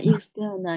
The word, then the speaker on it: external: Yeah, so like Joy's pronunciation, external. The t should be should be blur, blur. Should be blur, not so clear.